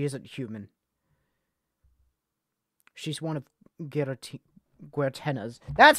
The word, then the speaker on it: Guertena: She's one of Guertena's.